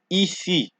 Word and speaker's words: ici: Next, we're going to look at I, which is pronounced as E, right? And in this word, you can hear the sound E in the word ici, ici, ici, ici.